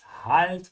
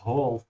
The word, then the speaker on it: Halt: Remember again to open your mouth. Halt not hold. Ja. Halt. Don't be lazy.